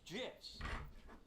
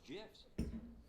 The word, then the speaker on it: GIF: Acronym's pronunciation is determined by the creator of the said acronym, like a proper name. In this case, the creator of the graphics interchange format, Steve Wilhite, says it's GIFs.